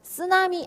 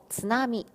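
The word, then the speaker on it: つなみ: 일본 본토 발음인, 그렇죠. 즈나미였죠. 즈나미. 쓰나미 아니고, 즈나미.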